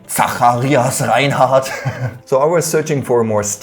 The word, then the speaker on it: Zacharias Reinhardt: pretty hard to remember, especially in its original German pronunciation. Zacharias Reinhardt.